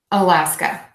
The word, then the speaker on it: Alaska: Alaska, Alaska. So again, really focus on that short beat, super short at the beginning, your longest schwa sound.